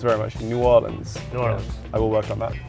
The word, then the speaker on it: New Orleans: One thing I do need to work on is my pronunciation of New Orleans because I keep saying "New Or-leens." "New Or-luhns." It's very much "New Or-luhns."